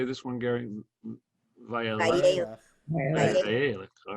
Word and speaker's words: Vayeilech: Vayeilech.